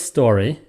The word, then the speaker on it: story: The word is story. Okay, I know that. That means the emphasis is on the sto part, the first syllable.